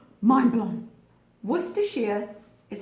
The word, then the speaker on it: Worcestershire: To everybody, everyone who's not from the UK, every American I have ever heard butcher this pronunciation. Worcestershire. Mind blown. Worcestershire is how you pronounce that.